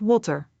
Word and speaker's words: water: In Dutch, the W is softer, more like an English V, but with lips closer together. Let's use the word water.